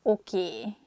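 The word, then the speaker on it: oké: nem no nem no this word comes from english probably it's easier for hungarian speakers to pronunciate it that way so we just say a sound a at the end so it sounds okie instead of okay and easiest excuse me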